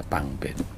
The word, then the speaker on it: Pangben: Pangban dibacanya Pangben.